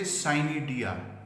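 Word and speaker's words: Pycnidia: Within 4 days of its infection, it starts producing spermogonia, or you can say cynidia. Here P is silent.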